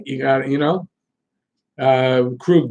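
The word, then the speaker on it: Krejčí: you gotta you know crewed by the way he's not Kruger crew I thought it was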